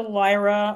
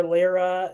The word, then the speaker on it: Lyra: So, I'll start off with how I got introduced to Lyra or Lyra, however you want to pronounce it.